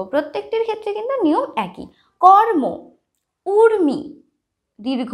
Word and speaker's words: কর্ম: ঠিক আছে, ময়ের মাথায় যখন রেফ থাকবে তখন উচ্চারণ কীরকম হবে দেখো, কর্ম, ময়ের মাথায় রেফ আছে, ময়ের আগে আমরা রয়ের উচ্চারণ করব। প্রত্যেকটির ক্ষেত্রে কিন্তু নিয়ম একই। কর্ম, উর্মি, দীর্ঘ উ, ময় রেফ রস্যি, উর্মি।